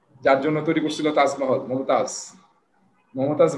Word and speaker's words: মুমতাজ: হ্যাঁ, শাহজাহান, তাজমহল, যার জন্য তৈরি করছিল তাজমহল, মমতাজ বানানটা উইকিপিডিয়া থেকে নেওয়া, যেটা এরকম আর কি, আমরা মমতাজ বলি যে আসলে গান গায় নাকি, সে নামটা হবে মুমতাজ, MUM তাজ।